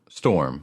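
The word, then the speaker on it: Stormh: No, Storm, with a silent H on the end.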